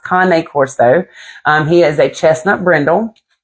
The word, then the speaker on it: Cane Corso: People like to pronounce it Cane Corso, but it's not pronounced Cane Corso. It's pronounced Cane Corso.